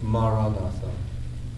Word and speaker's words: Maranatha: If you choose that word, say it as 4 syllables, Ma-ra-na-tha.